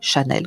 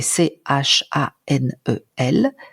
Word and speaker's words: Chanel: l'exercice maintenant sur un autre nom qui est Chanel que j'ai cité tout à l'heure même chose